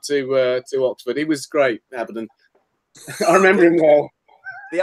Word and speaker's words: Abaddon: I pronounce it Abaddon, but I believe some people in the UK pronounce it Carruthers.